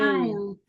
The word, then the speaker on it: aisle: Okay, how do you spell it, the Raka? ISLE. Very good. What word means a passageway? Passageway. Aisle.